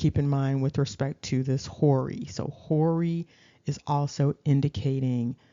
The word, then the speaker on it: Hori: Um, but there's another thing that stands out about the Horites, which is actually pronounced Hori.